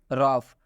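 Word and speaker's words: rough: silent हो जाएगा next रॉफ रॉफ में भी ओ के बाद से यू आया हुआ है इसलिए इस ओ का उच्चारण नहीं किया गया है य स्पष्ट में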